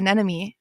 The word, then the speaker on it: anemone: So that's how I learned how to say anemy. And I will always say it correctly because you're like, "Wait a second.